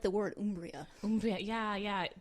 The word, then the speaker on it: Umbria: Umbria, yeah. The Italian pronunciation with that hard ooh as opposed to Umbria as it might look.